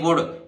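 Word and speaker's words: would: ये विल की है डी से पहले आया एल यहां भी नहीं बोलेगा ये वुड ये विल का सेकंड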